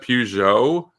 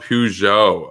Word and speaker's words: Peugeot: but oh peugeot okay peugeot gotcha interesting yeah i think yeah they're saying it's only in the uk that's pronounced peugeot okay yeah i guess we're trying too hard to make it sound french someone's also pointed out